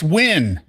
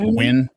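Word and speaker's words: Nguyen: Officer Noin, he does little Well, not little, but it's It's not new, it's win. Did you guys know that? Ngen is pronounced win.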